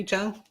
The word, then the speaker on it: Jung: Josh, I would pronounce it Young, but maybe Jung. Rangers. All right. Josh Young. Young. Yeah, it's Young.